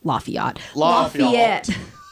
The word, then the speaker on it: Lafayette: Lafayette. That's how they say it, Leah.